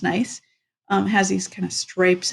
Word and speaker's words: gneiss: That is a nice rock. And I was looking for something up on my wall, but it's not there. This rock has ribbon-like layers. It is nice, pronounced nice.